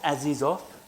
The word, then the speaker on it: Azizov: your name to Frank cuz they had to spell it every time. It was I went, "Oh, not." Anyway, um Mr. Aziz off, I got it right.